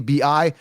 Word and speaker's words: Bijan: Because that's how it's spelled. Bi-weekly, B-I-J-A-N, Bijan. I get in the comments all the time about this. It's Bijan, okay?